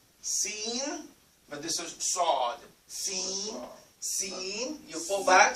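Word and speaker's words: ص: And the way you pronounce the Sad is just almost like the Sin. But your mouth has to be a little bit fuller. Yes, it's like a ball you're making a sound. Sad. Sad.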